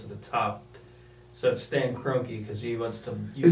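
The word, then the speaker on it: Kroenke: my frustration goes to the top so Stan croaky because he wants to because that actually how you pronounce his name yeah he wants to ease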